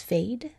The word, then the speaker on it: fade: you spell it f-a-d-e because I hear that long vowel sound of a and so I'm thinking Hmm it can't be a closed syllable so the E comes in to just silently be at the end of that word to force the a to say its name so that's the base